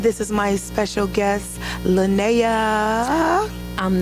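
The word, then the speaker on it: Lynaya: Because most people can't say Linnea. It's spelled L-Y-N-A-Y-A. So it looks like Linnea.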